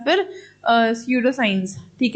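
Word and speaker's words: pseudo: एकदम proper science नहीं है, इनएग्जैक्ट साइंस है या फिर स्यूडो साइंस। ठीक है, स्यूडो साइंस में पी साइलेंट होता है, तो स्यूडो साइंस भी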